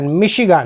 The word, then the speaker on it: Michigan: फिर है MICHIGAN, मिशिगन।